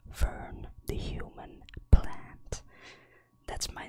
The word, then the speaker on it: Fern: It would be a little bit weird to pronounce my name in a different way than in English, right? So it's Fern the human plant.